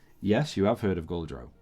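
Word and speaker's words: Gauldrone: I called g-a-u-l d-r-o-n-e so so goal and then drone okay you see even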